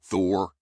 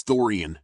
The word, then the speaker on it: Thorian: Thor. It's Thoran, not Thor.